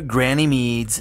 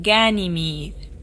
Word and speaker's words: Ganymede: Let's go to Granny Mead's and get this over with. It's pronounced Ganymede.